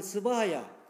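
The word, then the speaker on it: स्वाहा: 인도어로서는 의미가 발음을 하게 돼 스바하야.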